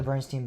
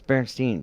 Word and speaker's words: Berenstain: That's Berenstain Bears. Correct. I've always said Steen. But Except it's not Steen. I know it's Stain.